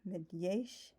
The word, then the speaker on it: Megyes: The G-Y sound in Hungarian isn't pronounced like a lot of people assume. It's not Megyesh, it's Megyesh. That it's kind of pronounced like the D-Y enduring or dew, depending on like the pronunciation you use of those words.